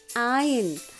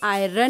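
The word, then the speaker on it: iron: आई का साउंड आई आयन। इसमें आर को बच्चों हम साइलेंट रखते हैं, मतलब आर हम प्रोनाउंस नहीं करेंगे, हम इसे आयरन नहीं बोलेंगे, इसको बोलेंगे आयन।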